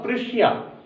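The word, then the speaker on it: Prussia: अब ये ध्यान रखिए, बार बार जर्मनी का नाम इस चैप्टर में पर्सिया है, हिंदी में पर्सिया बोलते, बट इंग्लिश प्रोनाउंसिएशन इसका होगा प्रुशिया।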